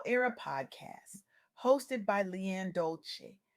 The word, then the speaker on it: Dolce: The soft girl era podcast hosted by Leanne Dolce, pronounced dolce, like sweet softness whispered in French, explores this very journey.